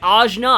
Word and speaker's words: Ajna: Yes, Ajna, I was saying it wrong all those previous videos.